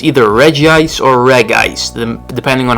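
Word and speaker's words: Regice: steel for me and no it is not pronounced Reggie ice no matter what the anime and no matter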